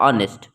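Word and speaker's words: honest: अगर हम लोग इसके उच्चारण पे जाते हैं बच्चों तो ये आपका क्या आ रहा है, ऑनेस्ट। तो अब वॉवेल से शुरू हो रहा है, तो वॉवेल से पहले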